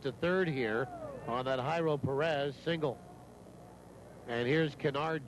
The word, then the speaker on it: Jairo: Perez spells his name, not Perez, but Jairo, J-A-I-R-O, pronounced Jairo.